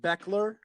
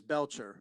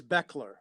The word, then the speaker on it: Bechler: pronounce your last name it's pronounced bechler but it it looks like bachelor but everybody says belcher so it's beckler with like a k all right so